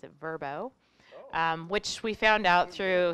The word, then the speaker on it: Vrbo: a rebranding launch last week oh you know pronounce it verbo which we found out through so I know